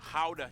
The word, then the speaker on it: Gouda: pride and joy of the nation, Gouda cheese. Yep, that's how you pronounce it, guys.